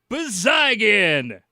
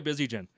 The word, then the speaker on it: Bezygin: I'm going to try Bizygin. Wheat King goal scored by number 5, Yaroslav Bezygin. Now, it doesn't roll quite like the first one. Yeah. Bezygin. I kind of like that hard G.